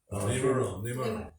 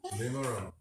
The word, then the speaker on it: Nimaram: Nimaram. Pardon? Nimaram. You don't realize that it's not pronounced that way, right? That's what the family calls it.